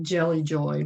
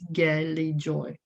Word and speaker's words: Gelijoy: way to say this i was calling it jelly joy but it is gayly joy and the name comes